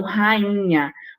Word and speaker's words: rainha: um um único som então rainha você tá percebendo o único som entre o NH quando você fala carro